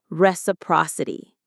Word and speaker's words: reciprocity: It's pronounced res, a, pro, si, t, reciprocity.